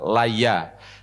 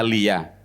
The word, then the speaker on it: Laya: Yang pertama adalah Laya. Ada kitab yang lain yang membacanya Lia. Tapi yang benar mana wallahu alam saya tidak tahu, tapi berdasarkan referensi kitab Qusosul Anbiya karya Ibnu Katsir bil fathi bacanya Laya.